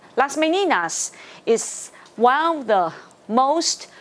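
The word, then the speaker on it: Las Meninas: 一定要念，所以呢，Las Meninas is one of the most unique compositions。OK，来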